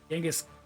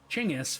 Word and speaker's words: Chinggis: Genghis, sorry, Chinggis, first of all, I'm mispronouncing it.